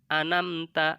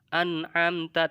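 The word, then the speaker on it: أنعمت: Contohnya anamta atau an'amta, tadinya an'amta dibacanya anamta, itu salah.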